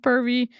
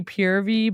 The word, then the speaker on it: Purvii: reacting to pervy today it's not pronounced it's not exactly pronounced pervy it's supposed to be purv but like you can